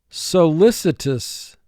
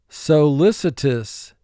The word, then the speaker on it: solicitous: morphosis metamorphosis row four solicitous solicitous he is very solicitous towards his boss so listed four syllables first syllable so two sounds s o li choreographer choreographer a choreographer